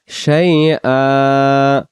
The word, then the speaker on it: شيئا: এই যে আমরা দুই জবর এক জবর বাদ দিয়ে আমরা এক আলিফ টানবো, শাইআ।